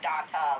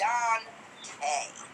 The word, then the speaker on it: Dante: was arrested under is Dante. It's not pronounced Danta like we were all thinking. I mean, because we are just reading it like, Well, but that's how it but pronounces. it's Dante, like A.